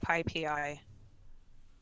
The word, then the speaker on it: PyPI: I've heard them pronounce it PyPI, as in the Anyway.